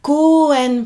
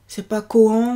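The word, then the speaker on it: 公園: Koen. 4 syllabes. Donc d'abord on allonge le O du ko et ensuite on termine par e, et le est une syllabe à part entière. C'est pas koan ou koan, mais koen, voilà.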